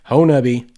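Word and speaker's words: Honobia: on we covered the honabi so spelled henopia but I promise you from Southeast Oklahoma it's pronounced hornubby Bigfoot festival for this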